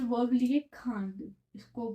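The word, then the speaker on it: craindre: ठीक है, तो मैंने यहाँ पे वर्ब लिए खांड, इसको प्रोनाउंस खांड करते हैं।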